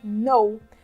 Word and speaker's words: know: A gente não pronuncia a letra K quando ela começa, né, a primeira letra da palavra e ela vem antes da letra N em inglês, tá? Então, aqui a pronúncia é know.